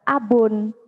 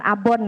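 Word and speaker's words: أب: Kalau memang hanya ayah, itu dalam bahasa Arab abun. Abun, bukan abon ya.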